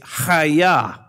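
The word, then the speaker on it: חָיָה: of that in there, but it's haya. And so it almost sounds like a karate chop.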